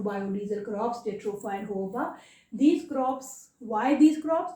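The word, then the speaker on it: jojoba: आपको ये जोजोबा लग रहा है JOJABA, लेकिन इसकी प्रोनाउंसिएशन क्या है? होहोबा।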